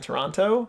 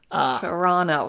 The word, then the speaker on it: Toronto: I pronounced both T's in Toronto. Some people say that's wrong. Toronto tempo. Toronto tempo. I think it does sound better if you don't pronounce the second T.